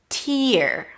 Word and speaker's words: tear: Here it's pronounced with a T sound, then a high E, T, and then an R sound.